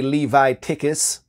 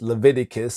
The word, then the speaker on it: Leviticus: know why I think it's funny to say Levi tickets or Livi tickets it's pronounced Leviticus or so I've been told and but I'm